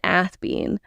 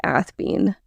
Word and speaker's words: Athebyne: degree, where he said Athebyne. There's a couple different ways this is pronounced. I'm going with Athebyne.